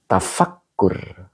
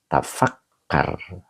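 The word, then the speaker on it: تفكّر: Tafakkur. Bukan tafakkur. Apa ini? Fi'il amar ya. Tafakkar. Nah, begitu berarti bacanya.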